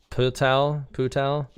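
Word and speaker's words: 葡萄: toxic th unsubscribe hotel's name is very similar to grape and chinese it's pronounced as putau so my friends and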